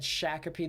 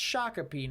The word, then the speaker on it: Shakopee: my discord server that said shakopee the entire time and he said he lived there but no it's actually pronounced shakopee now thank you misty